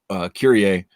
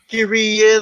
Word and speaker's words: Kyrie: If you know the Mr. song, you know how to pronounce it. Most people are saying they don't even know basketball, but somehow they keep saying Kyrie because I think they're thinking Kyrie Irving, which is fine too.